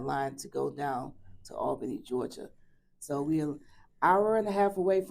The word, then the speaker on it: Albany: Albany Georgia Albany Georgia Albany okay gotta get that pronunciation right everybody know you say Al all all Ben Georgia the Southwest Southwest